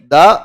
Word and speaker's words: the: द, इसको pronounce करेंगे दी।